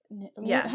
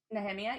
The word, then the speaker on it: Nehemia: Kind of reminds me of Nehemia. How do people say her name? Nehemia? Nehemia, yeah. I always pronounce it Nehemiah. She also does not, that's because you were raised Christian.